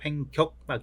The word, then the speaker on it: 횡격막: 나타나는 것이죠 여러분들이 이제 횡경막이 해서 이게 발음 때문에 경으로 알고 계신 분이 많은데 횡격막 있니다 횡격막네 그래서에 상행 대동맥은 어딩